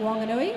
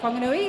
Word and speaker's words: Whanganui: So they're made up of players from the Mataka, down the Hutt, Wanganui, or Whanganui, as it should be pronounced, Taranaki.